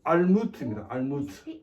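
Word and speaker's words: עלמות: 그리고 여기 보면 이 무시라는 이 단어의 정확한 히브리어 발음은 알무트입니다.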